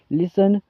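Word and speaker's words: listen: मतलब होता है सुनना लिसन लिसन लिसंड और इसमें आप टी का साउंड भी ऐड कर सकते हो ऐसे बोल सकते हो आप लिसन लिसन लिसन ठीक है और इसमें टी साइलेंट होता है दोस्तों।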